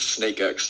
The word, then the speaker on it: SnakeX: it snakes first yeah it's it's it's snake x you know like uh spacex yeah that's what i